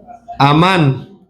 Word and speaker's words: Amán: Amán con acento en la segunda a Amán.